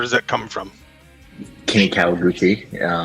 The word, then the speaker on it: Kawaguchi: So where does Kenny, and I don't know how you pronounce what comes after the K, where does that come from? Kenny Kawaguchi. Kawaguchi.